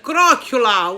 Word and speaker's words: croccula: so bear with me so today's word is crock EULA what's a crock EULA ocula is this it's